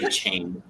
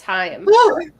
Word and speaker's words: Chaim: lot of people say chain. Like, that's not how you pronounce Chaim. it. Oh my god, no, it's Chaim.